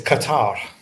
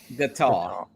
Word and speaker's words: Qatar: I've heard that name pronounced. What's the official? How do you say that where you're at? Is it? It's Qatar. Qatar.